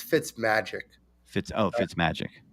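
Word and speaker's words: Fitzmagic: okay first of all when you say his name it's fits magic fits oh it fits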